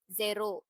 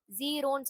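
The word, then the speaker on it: ゼロ: சோ இதோட pronunciation வந்து ஜெரோ. ஜீரோன்னு சொல்லாம ஜெரோ. Japanese pronunciation ஜெரோ.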